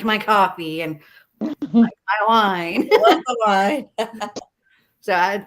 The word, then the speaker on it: Ko-fi: thought it was like Kofi so did I so did I yeah because it is like a cup of coffee yeah but I kept